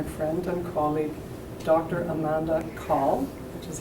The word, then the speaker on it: Cahill: Amanda Cahill, which is how you pronounce her last name.